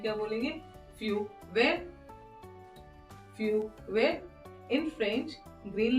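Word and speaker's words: feu vert: French में क्या बोलेंगे फ्यू वेर फ्यू वेर in French green light will be फ्यू वेर अब देखिए यहां पे ग्रीन को क्या बोलेंगे हम वेयर T will be silent okay next आता है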